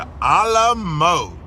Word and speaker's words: Alamo: I'm more excited about the a la mode. A la what? You know, the famous port that serves ice cream. Chuck, it's the Alamo, not a la mode.